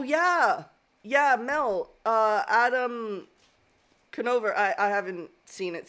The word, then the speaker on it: Conover: actually um oh yeah yeah Mel uh Adam canover I I haven't seen it so I don't know if canover is how you pronounce his last name Conover Conover Conover uh yeah yeah on uh twitch